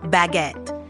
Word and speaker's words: baguette: almost like it looks baguette with a little emphasis on the second syllable give it a shot